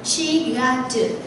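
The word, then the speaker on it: 四月: Tháng 4 mình sẽ đọc là Shigatsu.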